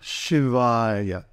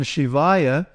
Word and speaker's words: Śivāya: Na, ma, then Śivāya is 1 beat for the shit because it's short, 2 beats for the va because it's long, and 1 beat for the final ya.